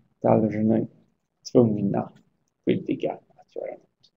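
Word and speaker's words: должны: Och i plural så heter det daljny, daljny, med betoning på y på slutet. Daljny, tvungna, skyldiga att göra något.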